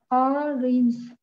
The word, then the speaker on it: orange: Mình phải cong môi lên đúng không? Jaw, right? Orange. Orange.